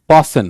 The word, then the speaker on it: fasten: बाक, fasten, fasten your belt, fasten your seat belt, not fasten, right? इसका pronunciation एक बार खुद से बोलने की कोशिश करो.